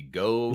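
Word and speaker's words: geaux: guy that writes it g-e-a-u-x you gotta say it like like coach oh go Tigers there you go there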